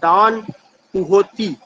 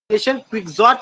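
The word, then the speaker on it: Don Quixote: Question number 53 है, विच रिनेशा writer is known for डॉन कुहोती? वो कौन सा राइटर है जिसको याद किया जाता है? क्विक्सॉट नहीं होगा, इसका जो प्रोनाउंसिएशन है डॉन कुहोते होगा।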